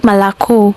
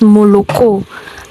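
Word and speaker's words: молоко: Wait, all the all the vowels are O. How come only one sounds o like the O m? Why? Why don't Russians pronounce it as Mokco? Why do they pronounce it as Malaco?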